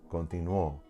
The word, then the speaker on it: continuó: And it breaks the rule, but we pronounce it more strongly in the O, continuó. So it's actually keeping that diphthong, and we're placing the accent on the O because it is the stronger sound, but also because we don't have the stress on that I anymore.